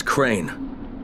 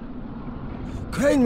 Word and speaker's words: Crane: no my name is crane okay crane rhymes with train and brain and sane and grey and rain and plain and the other kind